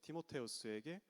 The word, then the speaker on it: 티모테우스: 오늘 본문인 디모데전서는 사도 바울이 자기의 영적 아들인 디모데에게, 원어 발음으로는 이제 티모테우스에게 보내는 서신입니다.